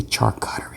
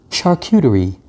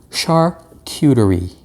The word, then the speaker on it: charcuterie: how do you pronounce this thing see i pronounce it wrong i say chart cautery because i'm new yorker and